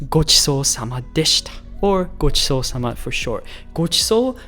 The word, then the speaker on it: ごちそうさまでした: So one more time, say it with me so that you pronounce it right. Ready? Itadakimasu. Pretty good ramen. ごちそうさまでした.